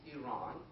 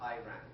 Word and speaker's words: Iran: By the way, it's Iran. It's not Iran. Nobody ran. Unfortunately, this mispronunciation came during the Carter's.